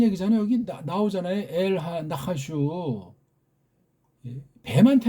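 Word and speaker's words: נחש: 뱀도 고뱀한테 한 나하슈. 발음도 좀 정확하게 읽어야죠. 나하슈. 나하슈. 슈슈슈.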